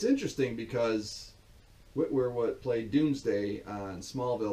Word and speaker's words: Witwer: Interestingly, Sam Witwer, that's how you pronounce it, Sam Witwer. I always say Whitmer.